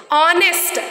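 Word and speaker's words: honest: not follow the rules ऑनेस्ट वी डोंट read we डोंट read it एज नेस्ट we should not read नेस्ट there H will be silent ऑनेस्ट our honour like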